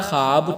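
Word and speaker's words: خواب: तो इसमें देखिए ख्वाब ख्वाब में अगर आप पढ़ेंगे तो खे अलिफ जबर खा बे मूफ इस तरह से लगेगा या वा साइलेंट है यहां पर तो उसे हम क्या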